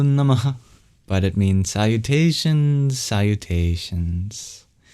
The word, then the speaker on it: Namah: Namah has a very interesting sound at the end, which is an expulsion of breath. And when it's before a voiced sound, it turns into the labioguttural vowel O. Namo Namah.